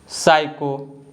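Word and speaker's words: psycho: According to the rule, the letter H is silent when it comes after the letters W, सी एंड आर। तो जो letter H है अगर डब्ल्यू, सी और आर के बाद आता है तो लेटर एच साइलेंट होता है, इसको हम नहीं बोलते हैं।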